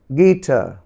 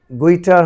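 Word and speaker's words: guitar: গিটার, গিটার। যদি ইউ এর উচ্চারণ বলা তাহলে গুইটার হয়, কিন্তু সেটি নয়, গিটার।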